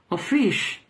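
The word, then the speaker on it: office: simplemente el término oficio ofish se pronuncia Así que es un término para oficio f en inglés por lo tanto cuando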